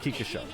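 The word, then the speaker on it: 菊花賞: That's usually pronounced Kika Show.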